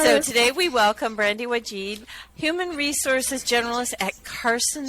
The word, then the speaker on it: Wajd: name correctly maybe I didn't I'm sorry it's wajid what did I apologize I had it spelled phonetically for me and you know just sometimes